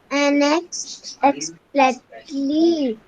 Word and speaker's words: unexpectedly: Unexpectedly. Unexpectedly. Yes, ma'am. Yes ma'am नहीं, unexpectedly. Pronounce it. बोलो. Unexpectedly. Expectedly. Ted miss हो रहा है आपसे.